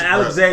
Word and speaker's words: Alexei: wait Alexei yeah right Alexei is how you actually say his name Alex II they were saying Alexei because star America yeah it's like Russian as opposed to Naruto